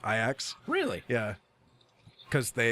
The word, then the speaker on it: Ajax: Uh it's spelled Ajax, but it's pronounced Ajax. Really? Yeah, cuz they it's a soft J in the Dutch.